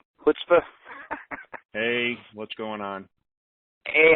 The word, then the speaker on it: chutzpah: Chutzpah? Chutzpah.